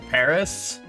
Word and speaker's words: Paras: Paris, or Paris. It's sort of just pronounced like Paris, like the city, but it's spelled like Paras.